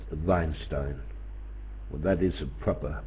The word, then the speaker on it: Weinstein: Weinstein lives in Israel his now would be pronounced veinstein well that is a proper pronunciation of the